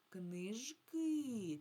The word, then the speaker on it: книжки: Коли ми кажемо в множині, тоді наголос падає на и, на и, на другий склад падає наголос книжки. А от коли я кажу книга, тоді на перший склад книга.